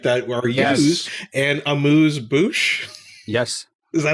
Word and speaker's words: amuse-bouche: I mean, that's a weird one because it's so hard to pronounce it in French. So you have to really go like une amuse-bouche. And then how many people can really do that with their mouth? So that it's just become amuse-bouche, right? It's just become an English word of an English version of a French word.